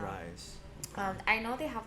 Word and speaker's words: Ryze: that i bought uh ryze i think i'm saying it right okay r-y-z-e okay that's probably how you sell it yeah rice um i know they